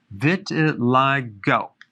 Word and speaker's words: vitiligo: want to talk about vitiligo vitiligo that's how it's pronounced what is it it's